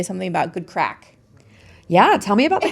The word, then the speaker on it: craic: We are talking about, it is spelled C-R-A-I-C, craic. It's pronounced crack. It's an Irish word.